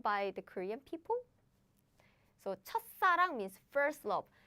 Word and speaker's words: 첫사랑: So it's 첫사랑, 첫사랑, 첫사랑. But now you can guess. 짜란. Big problem, big news. They bumped. So the pronunciation changes to like 싸, as in 싸.